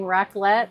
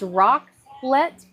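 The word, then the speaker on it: raclette: We're putting racklet or I don't know if it's rocklet or racklet. It's spelled r a c l e t e.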